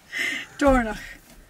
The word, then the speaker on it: Dornoch: Dornoch. Loch. What is that? So it's like a sound. So, Dornoch. It's like my maiden name, it's got a sound in it. So, Dornoch. Dornoch.